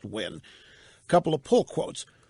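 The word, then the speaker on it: Nguyen: Tina when she Vietnamese ng you y en pronounced win a couple of pull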